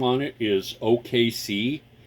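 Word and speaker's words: Okaysea: want the the brand name on it is OKC it's spelled o-k-a-y-s-e-a um quad core quad core processor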